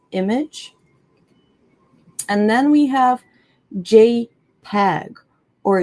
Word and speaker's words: JPEG: And then we have JPEG or JPG.